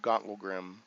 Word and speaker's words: Gauntlgrym: Gauntlgrym, different ways, but it's kind of like the beginning of Gauntlet, and then it's Grym, Grym. So I'm saying Gauntlet, Grym, Gauntlgrym.